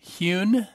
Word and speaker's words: Huhn: Hyun am i pronounced am i pronouncing that correctly mr.